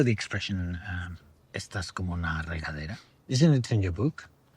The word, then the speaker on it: regadera: Regadera. Regadera. You have to roll your R's.